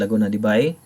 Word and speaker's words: Laguna de Bay: the top one is laguna de bai by the way this is pronounced as by not be in it and cebu